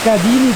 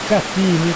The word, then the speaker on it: Cadini: Praticamente sti cadini del Brenton o cattini con la T da decidere un po' in base a come li si vuole pronunciare, sono delle piscinette naturali collegate da queste cascatelle.